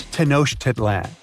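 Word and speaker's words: Tenochtitlan: It's Tenoshit Titlan. And Mayan cities are hard to pronounce, too.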